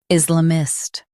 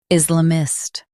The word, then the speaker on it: Islamist: Islamist Stress is and keep la mist soft. Is la mist.